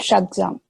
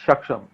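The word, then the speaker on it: Shaksgam: It's called Shagzam, right? Yeah, it's Shaksham.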